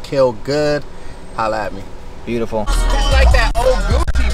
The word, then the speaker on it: KILLGXXD: i l l g x x d is pronounced kill good holla at me beautiful gucci bruh that 2005.